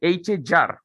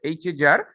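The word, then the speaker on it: HAGR: Okay, the pronunciation will be HAJAR, not GR, HAJAR.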